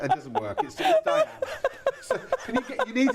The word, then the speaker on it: Diane: And this here is Diana. It doesn't work. It's Diane.